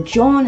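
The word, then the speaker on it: jawn: If you're not from Philly, or if you don't know what John is, this is how you spell it. Time for a Sesame Street lesson. Word of the day is John. How's that spelled? J-A-W-N.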